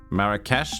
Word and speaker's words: Marrakesh: Marrakesh?